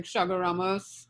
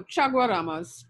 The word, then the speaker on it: Chaguaramas: Notice all of our names like Chagaramas and Chaguanas, and even like El Tukush, that CH would be pronounced like CH in Spanish. So Chaguaramas, Chaguanas, and El Tukuche